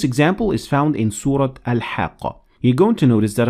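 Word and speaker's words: الحاقة: the difference so in the first time i said al hakka and i continued reading i pronounced the te murmuta like any other tech but when i stopped at it i turned the tat marbuuta into a head so i said same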